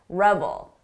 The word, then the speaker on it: revel: This is a short sound, revel. Long sound, reveal.